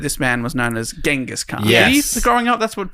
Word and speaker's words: Genghis Khan: My whole life, I've always heard this man was known as Genghis Khan.